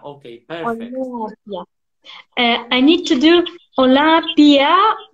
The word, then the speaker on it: Olympia: We only pronounce one syllable, pia.